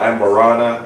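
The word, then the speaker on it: Amburana: It's a Brazilian wood called Amberana. Did I pronounce it right?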